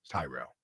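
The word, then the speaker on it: Tyrrell: Is it Terrell or Tyrell? Tyrell.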